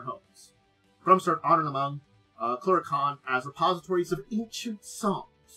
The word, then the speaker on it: Clurichaun: Keep trying to say their name wrong, even though I got the pronunciation. I want to say it differently, and I know it's wrong. Clurichaun.